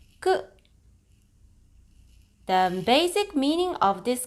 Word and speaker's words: 食: For onyomi, this is pronounced as shoku and jiki. For kunyomi, you can pronounce as ta or ku.